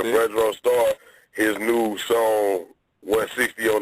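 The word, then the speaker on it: Fredro Starr: I say his name what is it Fredo star what's the name Fredro right yeah Fredro star his new song 160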